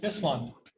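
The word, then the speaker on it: Ísland: okay so this is iceland and they pronounce it islam it doesn't mean ireland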